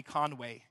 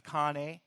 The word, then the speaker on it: Kanye: Yeah, I always want to say Conway, but it's Kanye.